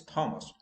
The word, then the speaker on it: Thomas: or my name is thomas no h is silent thomas now another example h